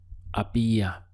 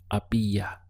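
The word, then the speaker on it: había: this in Spanish is a BIA notice that the H is silent so your pronunciation starts from here a BIA how would you say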